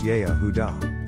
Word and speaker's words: Yehudah: In the Aramaic language, the name Judah is spelt Yehudah and is pronounced Yehudah.